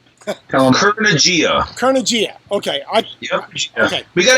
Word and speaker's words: Kurnugia: I can't pronounce it right, so you give me the pronunciation. Kurnugia.